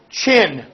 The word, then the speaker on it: Qin: J Shawn Joe Shawn chin chin the Q ends up like a CH sound Shang Joe chin Changjo